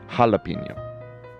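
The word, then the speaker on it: jalapeño: here you go so the J in Spanish is pronounced like an H in English so it's like not Jello jalapeno okay Swedish that's actually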